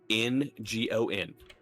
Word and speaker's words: Harengon: Let's see if I pronounce the racist name right. It's a Haringen. It is a rabbit person. How? Harengon.